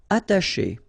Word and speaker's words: attacher: Attacher. Okay, you don't pronounce the double T, okay, ata, but then remember, C and H together, they will produce this sh sound.